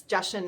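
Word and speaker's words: Jachin: uh the two pillars the boaz and the joshim and that's justin is how you um pronounce it because i actually had to look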